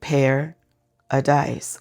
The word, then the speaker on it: Paradise: And I said it right, Paradise, like dice you throw in gambling.